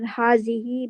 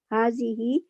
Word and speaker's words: هذه: It is, I'm reading, it is pronounced as hazihi, but Correct. the mud elongated. Alif on ha is not written, but is pronounced. Excellent. Note, the ending of hazihi is fixed on kasra, mabani ala kasra.